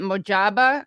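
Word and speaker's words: Mojtaba: First of all, I can't pronounce his first name. So is it Mojaba Kame, the son of the previous Ayatollah?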